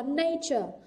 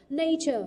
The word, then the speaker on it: nature: Cô có nature, nature, trọng âm rơi vào âm tiết thứ nhất.